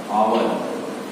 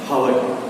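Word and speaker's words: hour: जैसे एंड आवर, ठीक है, एग्जाम्पल एंड आवर, एक घंटा। तो हम लोग ये नहीं कहते हैं अ हावर, नो, एच जो है साइलेंट हो जाएगा, ठीक है।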